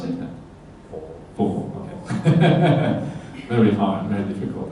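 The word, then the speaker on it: 佛: So that comes from Buddha, take away the Da, Bu, and then Bu, the B turns into F. Yeah? So it actually comes from the word Buddha originally, Fo as well.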